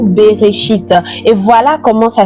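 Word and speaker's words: בראשית: commencement mais en hébreu se dit berchite. Voyez-vous beréchit.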